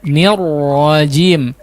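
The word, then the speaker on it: الرجيم: Bukan bismillahirrahmanirrahim ar-rahim, bukan begitu, tapi perhatikan, minasyaitonir rajim, nirrajim, nirrajim, bismillahirrahmanirrahim ya, bukan nirra, nirra bukan, tapi nirrahim.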